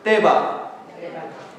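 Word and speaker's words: תֵּבָה: 떼바.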